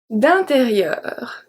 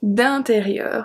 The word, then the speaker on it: d'intérieur: D'intérieur. D'intérieur. So I-N make the sound un. And then we have E-U. E-U is the same sound as neuf.